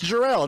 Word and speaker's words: Jerrell: time I was like it's Jarrell it's not that hard but right so I